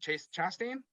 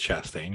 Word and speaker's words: Chastain: say your last name is it chase chastain i believe it's chastain yeah yeah uh i